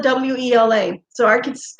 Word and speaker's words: Wela: But when you're little kids, you don't say abuela, you say abuela. So we spell it W-E-L-A.